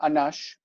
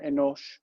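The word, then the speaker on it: אֱנוֹשׁ: let's say we have the word uh anash in hebrew it's uh enosh and nosh is uh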